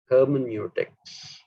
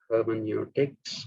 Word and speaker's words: hermeneutics: But my own preference is hermeneutics because it is a Greek word, not a German word.